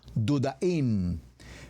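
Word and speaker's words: דודאים: ver la respuesta mandrágoras en el hebreo se pronuncia como dudaim mandrágoras mandrágora utaman alis mandrágora es una especie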